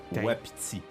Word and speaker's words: Waititi: Ça se prononce Taika Waititi.